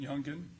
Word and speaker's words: Youngin: Now, the rap video "Do It" that was done by Youngin Ace, is that how he pronounces it, Youngin? Yes, sir. All right.